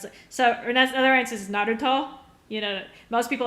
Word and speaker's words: Naruto: You know, most people Naruto or Naruto, it's Naruto. But when I say it like that, people, just because they're not used to hearing the Japanese version of it said, they don't understand.